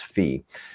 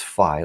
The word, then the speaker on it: phi: But anyway, it's fi, like fithet or fi beta cap or whatever, right? It's fi and it's it's measured